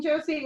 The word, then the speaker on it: Johsie: And as you know, my name Josie is spelled a little different with an H in the middle, right? So it's like a silent.